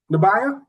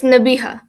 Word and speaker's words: Nabiha: Nabaya, I I did like pronounce that right, right? It is no, Nabaya. it's Nabiha. Nabiha. Yeah. You know what? It's just like it's spelled.